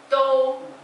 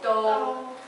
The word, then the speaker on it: 都: Do. Do is the first tone. Do.